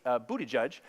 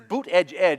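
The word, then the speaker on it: Buttigieg: a candidate mayor Pete bootie judge and see I always say it like bootie judge but bootie judge Buddha judge booted its boot edge edge it's not bootie judge but I always think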